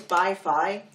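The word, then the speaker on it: BiFi: do you call it beefy Germany oh no it's beef like it's bi-fi so that might be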